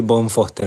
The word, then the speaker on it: von Foerster: pero bueno Ahí vamos se suele decir bon Foster mi apellido que es una una adaptación acá Argentina no porque el apellido